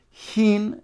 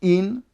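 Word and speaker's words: הין: Rabbeim, were gerei tzedek, they couldn't pronounce the word hin, and they said in, so therefore he said maloi hin, as not to make a mistake and say in, meaning you don't need any amount, will then poisil the mayim she'uvim at the mikvah. So he emphasized maloi hin, and therefore he said maloi hin, he pronounced the hey, and he said maloi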